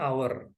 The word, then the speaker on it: hour: Ya, nomor 1 yang salah adalah artikel dengan kata our. Kita tahu bahwa untuk kata tersebut kita tidak melafalkan konsonan H-nya.